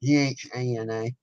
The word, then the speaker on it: Ghana: Am I pronouncing that correctly? Ghana.